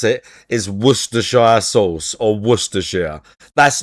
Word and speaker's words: Worcestershire: I taste sodium, and I taste Worcestershire.